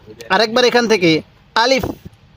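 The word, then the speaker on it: ألف: হলো আলিফ আরেকবার বলুন আলিফ আলিফ টান দিবেন না আলিফ এরকম ভাবে শিখবেন এরপরে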